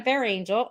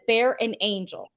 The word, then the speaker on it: Berengel: I'm here with Jenna Bear Angel and beringel let me say it correctly beringel she taught me a trick and said bear an angel bear Angel because I like to